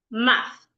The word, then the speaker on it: math: So the word right here is rightly pronounced math. Math.